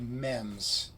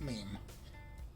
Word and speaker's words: meme: They're called mems, okay? It's always mem, not meme.